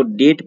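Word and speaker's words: debt: वन who cannot पे once डेट, इसको डेट पढ़ते हैं, यहाँ पे बी साइलेंट होता है और इसलिए इसको हम डेट पढ़ते हैं।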